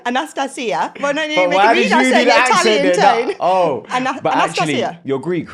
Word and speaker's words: Anastasia: long time you've introduced yourself to me as Anastasia but I've now just found out the cor correct pronunciation is Anastasia Anastasia wellan you're Greek right I'm Greek cypria yeah